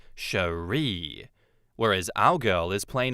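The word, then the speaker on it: Cherié: One thing I'd like to point out, girlfriend's name is spelled C H E R I E with a little accent over the last E and pronounced Sheree.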